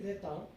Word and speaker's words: retiennent: Dès le Moyen Âge, from the Middle Age, les petits Français retiennent l'image, not, okay, the pronunciation will be slightly different, it would be retin.